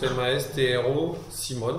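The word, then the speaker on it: Mastrosimone: Mastro Simone comme ça se prononce ma Stru Simone dans un seul mot évidemment Marie elle est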